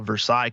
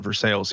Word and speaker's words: Versailles: in what you call Versailles, Kentucky, but we call it Versailles here. If you call it Versailles, you'll get run out of town.